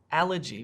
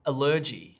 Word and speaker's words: allergy: the wrong syllable so instead of allergy which is correct i could say allergy oh and i say